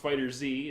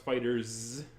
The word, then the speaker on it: FighterZ: Dragon Ball fighters Z fighters with a Z it's not pronounced Fighter Z it's pronounced fighters alright so that is